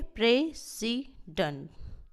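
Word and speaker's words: president: ठीक है, एज a noun राष्ट्रपति जिसका अर्थ होता है, इसको स्ट्रेस दिया जाता है प्रे पे। Okay, प्रेसिडेंट।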